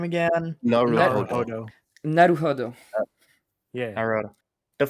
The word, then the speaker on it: Naruhodo: How do you pronounce the name again? Naruhodo.